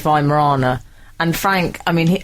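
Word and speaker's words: Weimaraner: I pronounced the dog I called it a why Mariner and apparently it's V Morana and Frank I mean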